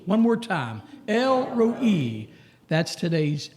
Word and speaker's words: El Roi: Maybe you know somebody named Elroy. Or El Roi.